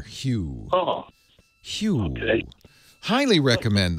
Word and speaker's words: Hue: H-U-E, like the color, Hue.